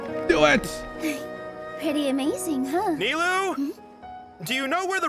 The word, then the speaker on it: Nilou: So her name is Nilou. I've been saying her name wrong the whole time, it feels. I've been calling her Nilo, some shit like that. Nilou. Okay.